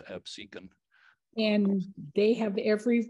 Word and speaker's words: Absecon: episode a couple of weeks ago on uh Absecon Lighthouse and uh Absecon people you said Absecon people say that all the time but they'll they'll tell you if you go there they'll tell you it's Absecon and they have every right yeah well you